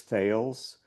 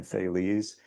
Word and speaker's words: Thales: by the Greek philosopher whose name I always pronounced as thals but I just recently learned that it's the which is nicer actually. So if if anyone knows a better pronunciation you can tell me but I'm going to call him Thales.